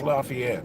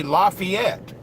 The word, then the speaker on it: Lafayette: wrong news in West Lafayette okay you know what's funny in Indiana you say Lafayette down in if you're in it's Lafayette we got a different way to pronounce it our diesel carburetor is